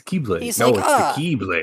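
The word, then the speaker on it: χ-blade: cutscene like explains that it can be pronounced as key so it's a keyblade it's it's the keyblade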